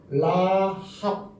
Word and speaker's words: 라합: 그러면 이거하고 얘하고 더하면 뭐예요? 라죠. 이거는 무슨 발음 난다 그랬어? 이거는 흐 발음 난다 그래. 흐. 그럼 흐에다가 이 아 발음을 더하면 뭐예요? 하죠. 하 발음이 나겠죠. 그 다음에 이거는 베이트. 베이트는 뭐라고 그래요? 이건 비벼. 그럼 어떻게 돼요? 라합 되는 거죠.